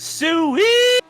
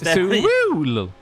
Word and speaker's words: Sewell: Matthew Sewell, or as Harry pronounced it, Sewell. No, it's Sewell.